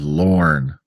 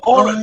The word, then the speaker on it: Lorne: And by the way, trivia, Bruce Campbell's middle name is Lorne. There you go. Lorne, as in W-A-L-A-N-N. No, spelled the same as Lauren Green. L-O-R-N-E. That one. Lauren.